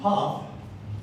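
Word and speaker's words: PHF: Now, a puff, it's pronounced puff, but it's actually spelled PF.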